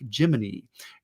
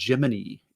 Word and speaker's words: Gemini: the word Gemini he's haunted by the astronauts in the Gemini program pronouncing like gimin because that's how they used to pronounce it and you're right Ryan